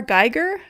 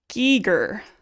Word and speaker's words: Giger: HR geigger. That's wrong. Okay, then you're going to have to tell me how to pronounce it Nashy because clearly my uh reading is not working. Giger, he's Swiss.